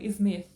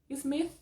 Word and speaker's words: Smith: o ator o Will Smith e você vai perceber que a pronúncia é o Will Smith e aí você já não pronuncia smit porque você sabe que tá errado agora vamos combinar uma